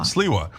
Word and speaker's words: Sliwa: No, it's Sliwa. Sliwa. But you just say it quick, but you go Sliwa half the time.